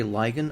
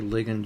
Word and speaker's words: ligand: Some people say ligand. I don't care. It's the United States of America. You pronounce it the way that makes you feel good about yourself. So I say ligand usually.